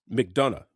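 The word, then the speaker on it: McDonough: Mcdana.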